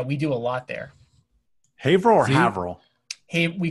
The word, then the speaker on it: Haverhill: He lives in, I'm not going to pronounce it, Scott. Is it Haverhill? Haverhill.